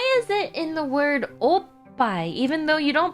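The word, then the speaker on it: おっぱい: Make sure you hold back at oh and then let it out loud at pai.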